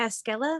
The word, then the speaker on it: Esquela: My name is Esquela. The Q sounds like a K.